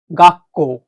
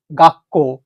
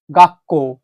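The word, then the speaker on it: がっこう: এই ছোট সুটা থাকার জন্য এই যে কোয়ের যে কেটা আছে এইটাই ডাবল হয়ে যাবে এখানে। তাহলে এখন শব্দটার উচ্চারণ হচ্ছে গাক্কো, গাক্কো, অর্থাৎ স্কুল, বিদ্যালয়।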